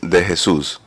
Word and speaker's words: De Jesus: So, the the right pronunciations of the last name is De Jesus. De Jesus. That's the la the pronunciation. And then my fellow Americans say uh to Jesus. Jesus, you know.